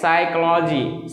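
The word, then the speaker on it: psychology: तो P silent होगा जैसे cycloji cycloji देखो यहां पे पी किस पहले ए रहा है एस से पहले ए रहा है तो पी क्या है साइलेंट है यहां पे देखिए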